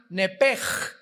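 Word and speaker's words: נפש: es nepesh, se pronuncia nepej. La ch en hebreo se pronuncia como J.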